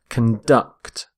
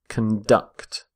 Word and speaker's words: conduct: are conducting electricity so note the stress of on the verb as well conduct conduct stress on the second syllable we say conduct when we're using the noun the word conduct is all about behavior as in a code of conduct or criminal conduct but when we use the verb which is what I'm going to look at here stress the second syllable conduct so water conduct it's